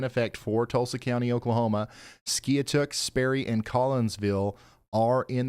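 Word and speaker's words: Skiatook: I saying that right it's pronounced skuk Ryan are you sure it's not skook yep I'm sure it's skuk not skyk local knowledge my friend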